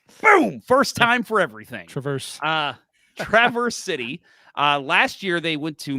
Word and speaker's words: Traverse City: season, let's see if I say it right, Traverse City. Right? You got it right this year. Boom! First time for everything. Traverse City.